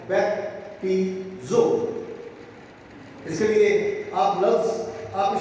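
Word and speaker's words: βαπτίζω: इस्तेमाल हुए हैं बपतिस्मा के लिए, वो है बैप्टिज़ो। इसके लिए आप लफ्ज़, आप इसके जो स्पेलिंग है वो लिख सकते हैं, BAP एस नहीं है, ये है BAPTIZO, बैप्टिज़ो।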